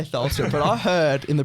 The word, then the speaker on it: Tholstrup: But it's like like TH, like the H is silent, so it's Tholstrup.